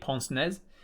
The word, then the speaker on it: pince-nez: On the end of its nose is a pince-nez, and the pince-nez is like gold-rimmed. Pince-nez, I think they're pronounced.